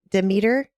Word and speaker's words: Demeter: And the last 8 standing, Zeus, Hera, Athena, Poseidon, Demeter.